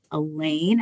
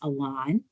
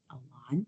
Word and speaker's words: Elaine: Okay, and then we did have another question from Elaine. I'm hoping I'm saying that right. She says, pronounced Alon. Alon, thank you so much.